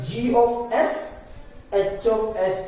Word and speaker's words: G(s)H(s): देखो एक चीज मैं क्लियर करता हूं, इसको हम प्रोनाउंसिएशन में G ऑफ S H ऑफ S कहते हैं, पर फ्रीक्वेंसी के लिए, फ्रीक्वेंट के लिए हम इसको GSHS कहेंगे। क्लियर। मेरा कहने का तरीका रहेगा GSHS, but actual pronunciation G ऑफ S H ऑफ S रहेगा।